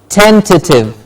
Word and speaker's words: tentative: try and tell me how is it pronounced 10:30 is it 10:00 theater no it's not so what is it it's tentative left the 10th tee ent that you general generally put